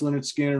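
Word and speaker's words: Lynyrd Skynyrd: Leonard Skinner, pronounced Leonard Skinner, Allman Brothers Band, Brothers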